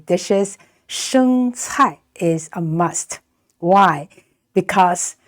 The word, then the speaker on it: 生菜: 生菜 is a must. Why? Because 生菜, it's pronounced very much like the word prosperity or become rich in Chinese.